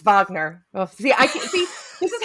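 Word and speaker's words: Wagner: freshen your coffee Mr wagna see that there you go actually I said his name wrong it's Vagner see I see this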